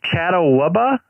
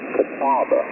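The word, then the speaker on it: Catawba: Chattabubba. What is that how you say that? We call it that, joking around. But the the county is Kataba.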